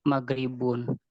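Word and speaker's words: مغرب: Kayak contoh selain masjidun juga ada gorobaya grubu, jadi magribun, harusnya kan magrobun.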